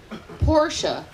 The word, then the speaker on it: Porsche: is listening right now Porsche in case you didn't know it was now and is forever a two syllable word so ray did me